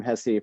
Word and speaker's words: Hesse: hess the writer uh in germany they say hessa uh but i'm from iowa and then midwest we just do everything goofy so we became hessy for some inexplicable reason